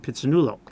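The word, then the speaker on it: Phitsanulok: Yeah, yes, but it's pit, sa, two separate syllables.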